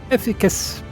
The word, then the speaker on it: efficacious: Thus, during thy convalescence, we considered the most efficacious method. How do you pronounce that?